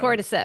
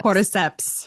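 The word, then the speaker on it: cordyceps: Cortiseps. Cortiseps.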